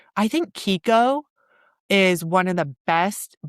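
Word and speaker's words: Chicco: Well, you probably call it Chico. Oh, yes. I would have. How do you say it? Kiko.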